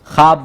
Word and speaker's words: خواب: خواب بار سمجھایا ہے، خے کے بعد واؤ کے بعد جب بھی الف آتا ہے تو واؤ تلفظ نہیں کیا جاتا، خواب بولا جاتا ہے، خواہش بولا جاتا ہے۔